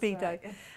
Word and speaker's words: Sabido: That's Sabido.